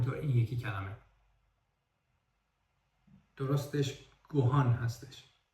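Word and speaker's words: ご飯: هستش و همین طور این یکی کلمه درستش گوهان هستش و یا این یکی کلمه درستش اونسن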